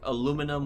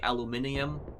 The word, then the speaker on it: aluminum: Like, you know, we say, like, aluminum, where the British, I know, say aluminium.